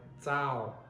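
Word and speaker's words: txaus: TX is like the sound at the end of the word pads. It is a DZ sound, z, z, okay? And we use this in Hmong in words like zao, okay, like enough.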